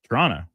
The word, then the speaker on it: Toronto: Toronto. You're not supposed to pronounce the Toronto. second T. If you say Toronto, you're not from here. Then you know you're not from there, or you're not from Canada.